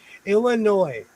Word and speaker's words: Illinois: Illinois. The S is silent.